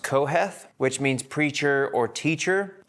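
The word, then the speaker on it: קהלת: So preacher is interesting because in Hebrew, it's pronounced Koheth, which means preacher or teacher.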